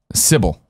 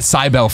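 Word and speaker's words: Cibele: a fullblown intro here totally syil right yes I was calling it cybel forever everyone pronounces it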